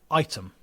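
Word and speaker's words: Ightham: Item. It's Item, isn't it? Yeah. Item. Spelled like Igtham.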